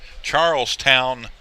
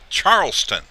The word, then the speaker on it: Charleston: Our statistician, Wes, asked me why I called Charlestown, Charlestown. Well, I looked down at my score sheet, and it's spelled Charlestown, which is incorrect. It's Charleston.